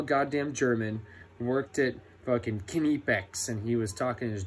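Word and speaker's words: Knipex: Yes, that's how you say it, Kenepex.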